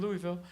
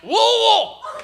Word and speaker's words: Louisville: I'm like, hey, it's so good to be here in Louisville. I had 400 people immediately. It's pronounced Louisville. It's wool, and it wool.